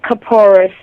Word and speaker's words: Kaporos: Okay, well, it's called Kaporos. That is the Eastern European or Yiddish pronunciation of the word. Kaparot is the Hebrew pronunciation.